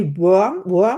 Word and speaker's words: Wurm: Thomas, you say worm, right? You pronounce Yes. Yes. Thomas Wurm.